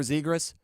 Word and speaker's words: Zegras: Man, they want to give us Trevor's I can never remember how to pronounce his last name. Trevor Zegras? There you go. We'll give it a go. Trevor Zegras.